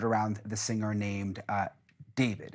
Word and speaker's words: D4vd: Uh, and all of it has centered around the singer named uh David. It's pronounced David, but it's spelled uh with um with a four.